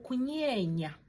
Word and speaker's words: kunyenya: So you see how I'm using my tongue. Yes. Or kunyorwa means like to worry in your heart. Or kunyorwa. So that's how you pronounce the ny.